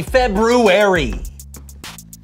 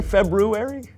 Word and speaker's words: February: was called februarius but most people don't pronounce the first R because it produces a cluster of consonants that isn't commonly used in Modern English well some of us